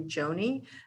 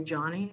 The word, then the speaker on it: Joni: to be called so my first name is actually joni but i don't want to be called by joni so because people would mispronounce my name they'd say johnny and i got tired